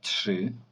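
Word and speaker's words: trzy: має 23 роки дваджеща тши тши тши так не дивуйтеся друзі коли ви дивитесь на слово ось оце але бачите там трз трз трз чому я сказав що це тши тобто т ш і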